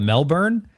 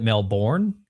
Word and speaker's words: Melbourne: I was talking positive about Australia, but I mispronounced this town. It was called uh I think it's called Melbourne, but I called it Melbourne because the way it was like spelt.